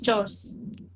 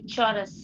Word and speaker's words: chores: Yeah, household chores. Yeah, so it is household chores. Okay. When you pronounce it, I think you mispronounced it maybe in a Yeah, few. I think I did a chorus.